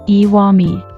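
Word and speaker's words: 石見: This can still be seen today in place names like Iwami, which is written as Ishimi and read as Iwami.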